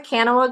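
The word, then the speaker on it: Kanawha: I think it's actually pronounced Kana, but I think a lot of Kanawa. Yeah, I think a lot of people call it different things. Yep. We were there locally, and they're like, "It's Kana," and I was like, "Yeah, okay."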